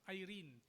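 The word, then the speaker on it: εἰρήνη: Sa wikang Greek naman, ang salita para sa kapayapaan ay or kung English ang ang pronunciation, Irene, E R e N. Irene, ito ang word na ginamit sa Romans 5:1.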